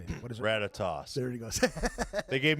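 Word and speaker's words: Ratatoskr: Ratatoss.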